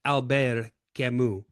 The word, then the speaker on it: Camus: I used to pronounce it Albert Camus until I had a French student years ago relentlessly mock me and straightened me out with Alber Kimu.